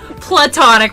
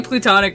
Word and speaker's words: platonic: No, it's platonic. Platonic, okay. But I say it weird. I say plutonic because I'm just weird.